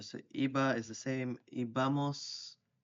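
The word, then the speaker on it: íbamos: So iba is the same, ibamos, with the accent on the I, ibais, and iban, they like went or they used to go.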